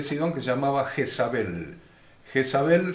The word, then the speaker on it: Jezabel: Jezabel se escribe con Z, como se pronuncia, pero con Z, sin S, sino Jezabel.